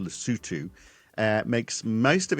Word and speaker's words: Lesotho: So, the small African country of Lutu, it's actually spelled like it's pronounced Loto, but it's pronounced Lutu, uh, makes most of its money from exports selling garments and diamonds to America.